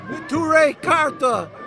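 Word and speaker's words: Neturei Karta: have the uh sorry how do you pronounce the name of your group again t cararta t Carta Protectors of the city it's Aramaic acting against these criminals against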